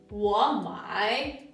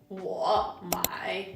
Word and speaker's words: 我买: But you have to know that in spoken Chinese, when two third tones come together, the first one changes and it pronounced like a second tone. So it should be 我买, not 我买.